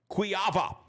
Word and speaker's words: Kujawa: And uh I remember I had such a hard time with this because his name is spelled Tim Kujawa, but it's Tim Quava.